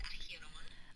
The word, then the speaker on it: Acheron: She's named after an actual river in Greece, I believe, pronounced Acheron.